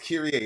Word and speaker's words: Kyrie: means Lord that's right Kyrie Irving it's pronounced okay it's Curie that's right it's curate means